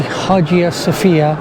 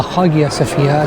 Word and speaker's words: Hagia Sophia: like i said um the hajjiya sofia or the hagia sofia some people pronounce it was a former church